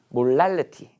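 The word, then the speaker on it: molality: 몰랄리티. L 발음 어떻게 해야 돼? 천장에다 혀를 붙여야죠. 몰랄리티.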